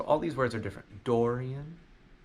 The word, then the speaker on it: Dorian: them but both of them sound very different Dorian is more of an all all door like